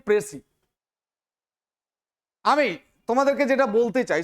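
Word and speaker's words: précis: সেটা হচ্ছে কি না প্রেসি writing. Firstly, we have to know what is praise, from where it's originated. The word actually is originated from French word and it is pronounced as প্রেসি।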